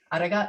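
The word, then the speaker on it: ありがとう: Arigato.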